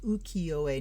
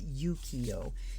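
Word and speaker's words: ukiyo-e: yes it is pronounced ukiyoe not yukiyo if it's yuki in japanese it's yu this is just uki so uki o e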